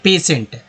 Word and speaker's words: patient: तो इसे इस वर्ड मीनिंग को बोलते हैं पेशेंट।